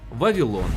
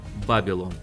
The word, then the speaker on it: Вавилон: Оскільки запозичення відбувалось з візантійської мови, то згідно з чинними фонетичними нормами літера бета вимовляється як в, а не б, а значить Вавілон, а не Бабілон.